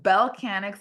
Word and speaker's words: Bellechanics: So Bellcanix is spelled B as in boy, ELLE. So it's the word Bell. And then Canix, right? Instead of mechanic with a me, it's a Bellcanix.